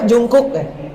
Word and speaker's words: Jungkook: sama Taehyung misalnya siapa bukan jongkok saya Bacanya apa Jungkook ya Jungkook Jungkook siapa lagi